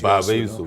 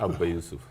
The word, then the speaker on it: Baba Yusuf: By the way, it's Baba Yusuf, not Abba Yusuf.